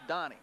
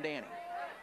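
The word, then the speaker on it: Danis: That's the kid whose name is spelled D-A-N-I-S, and it's pronounced Donnie. I just called him Danny.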